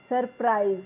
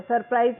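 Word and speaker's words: surprise: सरप्राइज the letter S has sound and the second letter. सरप्राइज में क्या है? दो लेटर एस आ रहे हैं यहां पे स्टार्टिंग में और लास्ट से पहले भी।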